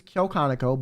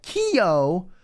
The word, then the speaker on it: Kyo Kaneko: names so for me my name is kyokonico but she'd be like Keo or for sunny she'd